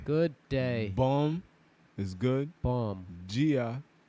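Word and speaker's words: bom dia: day boom is good bomb gia is like dia like in spanish good dia means de gea but they just it's spelled the same way too but they just instead of saying dia they say gia so they got a slur bongia a bon neuch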